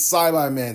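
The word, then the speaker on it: Saibaman: just straight up said it's Syby man seeds. And yes, that's the correct way to pronounce it.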